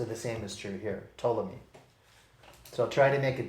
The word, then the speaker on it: Ptolemy: numerals even though it wouldn't apply to them ptolemy that's an egyptian name his name is spelled p t o l e m y ptolemy and we're not gonna probably be deviating